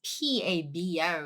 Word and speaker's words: 바보: When somebody is saying pabo and then non-Korean speaker, usually they spell it as P-A-B-O, isn't it? But actually it's not, it's a B-A-B-O. Thing is B because pabo. We don't start up high. However, pa, definitely stronger sound.